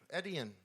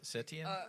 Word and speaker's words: Etienne: He doesn't even have an S in his name.